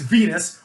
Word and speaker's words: Venis: has a name where the last name is venus which rhymes with penis right so immediately we